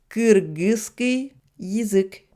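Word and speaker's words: кыргызский язык: Et pour la langue kirghize, avec donc le mot russe yizik, ça devrait s'écrire et se prononcer Kyrgyzski yizik, alors que l'habitude des Russes est de prononcer Kirgizski yizik.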